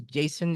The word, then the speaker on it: Jsun: up with that name I know it's Jason is your name is spelled JSU n yeah yeah so during